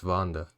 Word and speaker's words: VannDa: I've been saying VannDa, so it's VannDa.